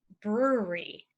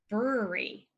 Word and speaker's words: brewery: people to say brewery brewery a brewery is a place where you brew beer maybe coffee but usually beer usually so to memorize this one you could use the word jewelry it's very similar the brewery is next